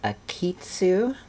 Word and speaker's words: Akeytsu: show you this is a kitsu it's not a japanese company it is a french company with a well it's a japanese sounding name and we'll call it a phonetically japanese french company so what is this